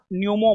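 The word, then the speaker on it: pneumo: Human Meta न्यूमो virus. हां हां हां हां ठीक हो नहीं जी यहां पर जो है ना नहीं सुनिए पी साइलेंट है ह्यूमन मेटा न्यूमो वायरस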